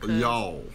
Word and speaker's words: y'all: Y'all. Yeah. Y'all instead of you all.